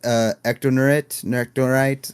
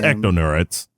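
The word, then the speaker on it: Ectonurites: homeworld of like the Ectonite. I hope I'm saying it right. Roxy was always better with alien names than I am. It's Ectonerites. Ectonerites? I just looked it up. Ectonerites. Ectonerites. Yeah, Ectonerites.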